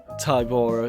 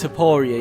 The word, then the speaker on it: Topuria: Once again, not the craziest prediction, but with how Volk ended last year, this Tybora, is it Tybora? Is that how you say it? Topuria, yeah, this Topuria fight could be like a bit of a a bit of a toss-up.